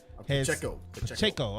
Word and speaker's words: Pacheco: Isaiah, is it Pacheco? Is that how you say it? Yeah. Pacheco, okay.